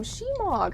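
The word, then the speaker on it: shemagh: Shemog. I didn't know that's how you pronounce it.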